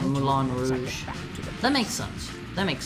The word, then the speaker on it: Rouge: It's pronounced Rouge.